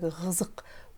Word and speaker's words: қызық: Следующее слово «қызық». В этом предложении он произносится как «ғызық». «Өтө қызық». «Өтө қызық», потому что звук «к» следует после гласного звука.